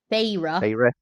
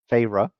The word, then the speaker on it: Feyre: the main characteress, whose name Fairy, Feyre. Feyre, thank you.